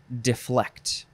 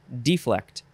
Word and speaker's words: deflect: adjective next word is deflect and you can say the first syllable de or D deflect deflect this is a